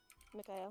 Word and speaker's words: Mikhail: It's Mikhail, but Meg is calling him Michael.